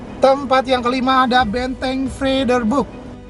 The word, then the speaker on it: Vredeburg: yang kelima ada Benteng Vredeburg free the book free the bridge Hai benteng vrederburg jadi ini ejaannya Belanda nih brur benteng ini merupakan